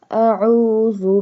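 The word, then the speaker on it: أَعُوذُ: Inni a'udhu bika, ayn, pronounce ayn from the middle part of throat.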